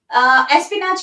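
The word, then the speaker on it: espionage: Deal करता हूँ एस्पिनाज, मतलब बेसिकली एस्पिनाज क्या हो गया? एक कंट्री की इंफॉर्मेशन दूसरी कंट्री में लेके जाना, है ना? इसको आप कैसे प्रोनाउंस करोगे? एस्पिनाज। एस्पिनाज।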